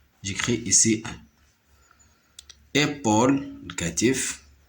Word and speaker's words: épaule: P avec AU نقراها Paul. Épaule.